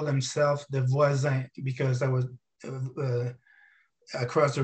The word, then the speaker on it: Voisin: And you got to tell me if I'm making the pronunciation right. So the Laval Voisin? Yeah, Voisin.